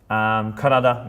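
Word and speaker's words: 体: Karada, meaning body.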